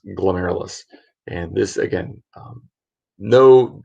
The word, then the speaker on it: glomerulus: It's pronounced glomerulus.